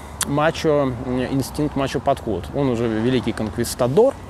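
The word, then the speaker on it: конкистадор: Он уже великий конквистадор, конквистадор. У него есть путь конквистадора или конквистадора, опять-таки, вот. По-разному это все произносится, хотя с точки зрения, наверное, оригинального нужно на первый вариант обратить внимание по части ударения.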